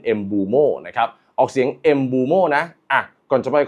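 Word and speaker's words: Mbeumo: กับ ทาง brัน mบูโม่ นะ ครับ ออก เสียง เอูโม่ นะ อ่ะ ก่อน จะ ไป คent นะ ครับ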